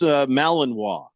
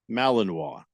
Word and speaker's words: Malinois: is congratulations just yeah Aver Joe says it's pronounced Malinois Malinois oh yeah because it's a French it's a